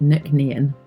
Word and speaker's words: Nc'nean: a beautiful corner of the world our name pronounced Nick nean is an abbreviation of Nishan known as the